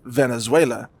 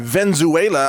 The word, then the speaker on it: Venezuela: and maybe they would learn how to pronounce the country name correctly because it is of course Venezuela.